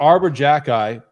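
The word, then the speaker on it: Xhekaj: a bad hockey team no they're not Arbor Arbor Jacky there we go another pronunciation correct uh he's a f I wish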